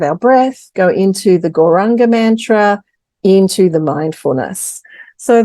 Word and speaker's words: Gauranga: And we're using a beautiful mantra, which is pronounced Gauranga.